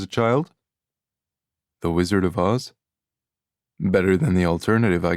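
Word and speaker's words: Aas: Two A's in Norwegian are pronounced like an A with a hoop on top of it.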